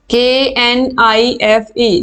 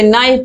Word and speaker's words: knife: ठीक है, जैसे KNIFE, इसको हम knife नहीं पढ़ते, नाइफ पढ़ते हैं।